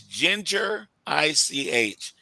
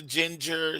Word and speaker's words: Gingerich: And guys, that's Ginger ICH. Yes. She's not a ginger. She's kind of close, but she's Gingerich is how you say it. Don't say ginger.